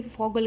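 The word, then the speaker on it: Vogel: और फॉगल, ये भी मैंने आपको बताया था कि वी जो है वो एफ़ की साउंड प्रोनाउंस करता है जर्मन लैंग्वेज में। तो इसको हम फॉगल नहीं पढ़ेंगे, बल्कि इसको वॉगल नहीं पढ़ना, हमने फॉगल पढ़ना है।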